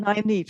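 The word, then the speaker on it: Nynaeve: someone wrote nine neve so the number nine and then e for evening nine eve so this is a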